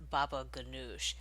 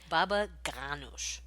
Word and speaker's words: baba ganoush: this dish is not baba ganoush but is in fact baba ganoush so a more guttural sound anyway thank you to